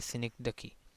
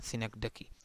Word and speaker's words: synecdoche: और इसी तरह ये सिनेक्डकी, इसे कुछ और नहीं पढ़ना, ये इसी की यही प्रोनाउंसिएशन है, सिनेक्डकी।